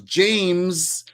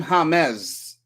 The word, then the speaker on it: James: Yes, and the reason why it's pronounced James is because James, you don't say James in Spanish. The J in Spanish is pronounced as like a H.